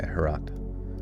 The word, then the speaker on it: Herat: Okay, so wait, it rhymes with a lot or forgot. Okay, Harat.